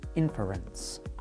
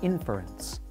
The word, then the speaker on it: inference: exploration of common scientific terms today's word is inference an inference is some kind of opinion or